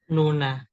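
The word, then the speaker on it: 누나: Berarti cara bacanya Nuna, baca Nuna artinya apa, Kak Gama?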